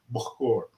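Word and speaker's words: bukhoor: don't call it insincere they call it that is spelled b-u-k-h-o-o-r book or right they'll burn it and it's Smoky and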